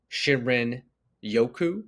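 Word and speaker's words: 森林浴: Probably won't say this right, but it's pronounced Shinrin Yoku.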